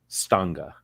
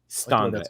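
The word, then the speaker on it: Stange: glass what's it called stunga skanga standa sca like stranger but without the t-r s-t-a-n-g-e it's tango that's delicious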